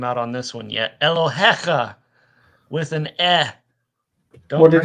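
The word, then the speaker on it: אֱלֹהֶיךָ: The Yod is not there for pronunciation. It's only there to mark a plural.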